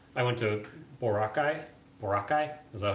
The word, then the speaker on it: Boracay: hasn't i have for like i went to boracay morocco is that how you say it i